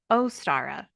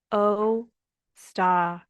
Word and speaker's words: Ostara: So, anywho, the internet told me how to say it and it's Ostara, but it's spelled like O-W, which is ow to me. But anyways, Ostara, O-staa-ruh. That's how you say it.